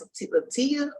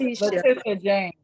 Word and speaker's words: Letitia James: Is it pronounced LaToya? LaToya? How you say it? Letitia James.